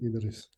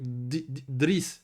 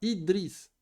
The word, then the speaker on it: Idriss: C'est dit Idriss. Aïwa, quand tu dis tu vois, tu le prononces avec Driss, tu commences avec une soukoun. On peut pas faire ça, Akhi. Normalement, c'est Idriss.